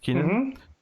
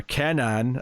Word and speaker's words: Kenan: First backup is the second half of the new Superman story with Keenan. Or Kenan, as Bakshi rudely corrects us all on.